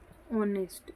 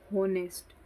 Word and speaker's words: honest: जैसे for example एक word है यहाँ पर ऑनेस्ट, HONEST, ऑनेस्ट। अब बहुत सारे लोग इसको बोलेंगे होनेस्ट, तो ये गलत, आप प्रोनाउंसिएशन ही गलत बोलते हैं। इसकी सही प्रोनाउंसिएशन क्या होती है? ऑनेस्ट।